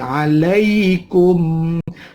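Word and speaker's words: عليكم: Alai, jangan alai, tapi alaikum. Ada mim mati, ketemu mim, namanya mislain, ya, idgham mislain.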